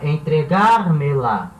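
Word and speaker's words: entrégamela: Então, e fica entregar-me-la. Então, entregar-me-la. Agora virou uma palavra. Antes era entregar. A sílaba tônica era gar.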